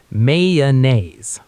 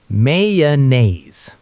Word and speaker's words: mayonnaise: The standard American pronunciation is Mayonnaise. Let's slow it down. May, like May, the month. The relaxed sound in about. Naze rhymes with days. Now connect the sounds. Mayonnaise. Say it with me. Mayonnaise.